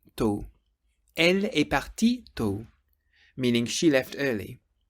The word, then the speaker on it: partie: It's pronounced the same, but in writing it's spelt P-A-R-T-I-I-E. So you get elle est partie tôt. Elle est partie tôt, meaning she left early.